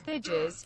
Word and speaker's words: Thijs: There once was a man named Thijs, whose name should be rhyming with spice. But I'm the woman who reads donations, and I'm drunk and on vacation. So pardon me when I think his name rhymes with bridges, because it's not nice.